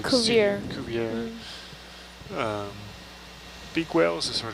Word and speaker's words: Cuvier: Cuvier? Culver? It's spelled like Cuvier.